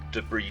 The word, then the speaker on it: debris: on planets, is surrounded by its own little debris field, or debris if you prefer that pronunciation.